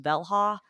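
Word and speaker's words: Velja: I have been trying one called, I think it's pronounced Velha.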